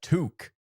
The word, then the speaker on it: toque: A toque. A toque. Yeah. A toque? I don't even know how to spell it.